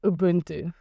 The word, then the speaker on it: Ubuntu: called Ubuntu and say one time Ubuntu now just to get trying to make sure I got it.